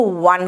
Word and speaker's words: one: ONE WON दोनों को वन कहते हैं।